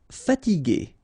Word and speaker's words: fatiguer: Okay, remember that we had this G and E normally, so G, E, R without the U should be pronounced like G. Okay, so if you want to modify the sound and then to have this G, okay, you will have to add this U between the two.